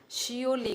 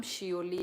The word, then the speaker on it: Seouli: अच्छा, शियोली गाइस, शियोली। मेरा नाम शियोली है, ऐसे करके प्रोनाउंस कर सकते हैं, शियोली।